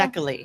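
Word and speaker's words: Szekely: Zekli. The S Your is dad- The S silent. is silent, so it's Zekely. I guess so. Zekely.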